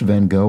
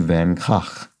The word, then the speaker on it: Van Gogh: v-a-n-space g-o-g-h isn't pronounced van gogh or van gogh since the g in dutch is closer to a guttural h so it ends up being closer to van gaach and yes i i